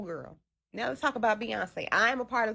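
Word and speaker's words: Beyoncé: I'm like, "How do you pronounce what is what does this say?" Be bian. What? Like like most people, I didn't know how to even pronounce her name. It was like, "Oh, that's Beyonce."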